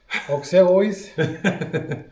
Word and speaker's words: Auxerrois: Wie spricht man das aus? Auxerrois.